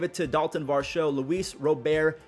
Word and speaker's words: Robert: to Dalton varsho Luis robare that's how you say it it's not Robert I feel like he's